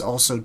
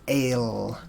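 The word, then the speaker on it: אל: So together we have a word picture, and it's pronounced Al or Ale. And over time, there are different ways to pronounce this. Some have evolved into saying al or al, and some say el or ale.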